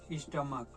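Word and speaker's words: stomach: जैसे स्टमक यहां पे सी एच का उच्चारण च ना हो के क्या आ रहा है?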